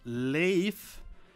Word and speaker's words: Leif: That's how the name is pronounced. It's pronounced Leif, and for that matter, it's pronounced Sigurd.